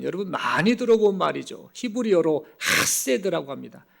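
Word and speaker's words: חסד: 히브리어로 하세드라고 합니다. 그냥 헤세드가 아니고 정확한 발음을 흉내내자면 하세드라고 이렇게 표현하는 이 헤세드라는 이 단어를 사용합니다.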